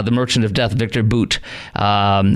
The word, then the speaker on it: Bout: Merchant of death Victor boot um looks like bout but it's it's pronounced Boot and Putin needed him